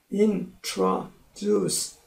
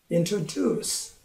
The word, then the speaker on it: introduce: 거고 그 다음 단어 introduce 3음절인데 강세는 세 번째 있어요. introduce 이제 아시겠죠?